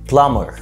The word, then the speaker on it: plumber: rule number one أو القاعدة الأولى، لما بقى جاي عندنا M وبعدها B ساعتها الـ B بتبقى silent أو صامتة. لو عندنا M وبي في كلمات زي climb يتسلق مش climb، ومتسلق climber، climb climb، يسرح come come، زي مثلا لما تيجي تسرح شعرك come your hair come your hair، سباك plumber مش plumber.